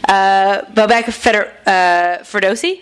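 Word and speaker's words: Bobak Ferdowsi: And joining him, I didn't even ask about the pronunciation of your last name, so I'm just going to go for it. Bobek Ferdowsi?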